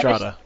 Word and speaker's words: Lysistrata: This year I wrote a parody of the Lysistrata, and last year I wrote a parody of the bird. Huh. Michael, I never read them. Also, I think it's What? pronounced Yeah, I Lysistrata.